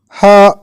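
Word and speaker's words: هاء: words want awake cow ha corresponds to the letter H in English and it is articulated exactly the same way as the sound in these English words hat honey horse yeah corresponds to the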